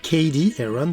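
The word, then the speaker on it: Cady Heron: bien je te laisse résumer le film alors KD eron pour bien le prononcer à 16 ans jusqu'ici elle grandissait en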